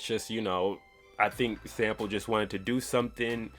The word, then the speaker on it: SMLP: Like I said, they got SMLP, which I think is pronounced like Sample.